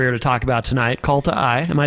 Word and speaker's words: Kalta: But you also have another band, which we're here to talk about tonight, Kalta. Am I saying that correctly? Yeah, Kalta.